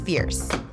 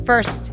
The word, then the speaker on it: First: secure some great shots by the way it is pronounced Fierce and yeah we both thought it was first at first as well upon arriving